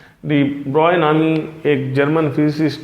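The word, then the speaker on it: de Broglie: डियर students, आज का हमारा टॉपिक है डी ब्रोले, या इसको डी ब्रॉय कहते हैं, पढ़ने में डी ब्रोगले है, जो इस प्रोनाउंस करते हैं आप लोग।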